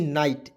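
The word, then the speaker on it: night: देखिए एन आई जीएसटी नाइट एन से न लिखेंगे और आई जीएसटी अंतिम में आएगा उसको उच्चारण आइट के रूप में कर लीजिएगा हो जाएगा दोस्तों नाइट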